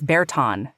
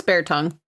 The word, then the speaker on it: Bear Tongue: I always heard it as Bearton. No, it's Bear Tongue.